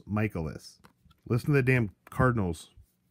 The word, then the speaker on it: Michaelis: we'll see Myles Michaelis everyone pronounces it Michael loss and that's not correct man it's miles Michaelis listen to the damn